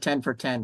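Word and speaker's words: Ten for TN: And recently I had 10 for, I pronounce it 10 for 10, but it's 10 for TN as in Tennessee, which is almost exactly 10 minutes.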